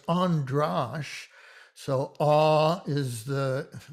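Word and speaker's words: András: but androsh is and it illustrates the difference in the sound of an a without an accent versus an a with an accent so it's andrash so ah is the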